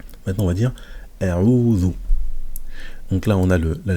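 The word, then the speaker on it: أَعُوذُ: Donc ça va être, on va le prononcer Qul. Maintenant on va dire a'udhu.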